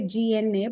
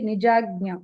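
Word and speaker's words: निजाज्ञा: Some people say GNA, but that's not correct. It has to be nijagnya. Okay, agnya, like Malayalam agnya and all. Nijagnya. Okay, ij and nya, like Tamil nya, nyani, like that.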